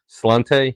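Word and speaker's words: sláinte: Slante?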